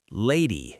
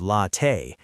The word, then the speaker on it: latte: But I pronounced latte wrong, lady instead of latte.